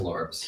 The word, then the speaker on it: Lord: Brings out my my Steve Lorbs. Steve Lorb. Yeah. Steve Lord is our organ player. Lorbs. Lorbs. Lorbs. It's spelled Lord, but it's pronounced Lorbs.